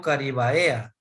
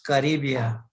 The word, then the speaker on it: caribaea: si como pronuncio yo yo no digo caribaea sino que espinos caribia bien entonces sigo leyendo